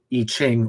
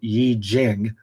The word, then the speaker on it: I Ching: I Ching, or said properly, Yi Jing.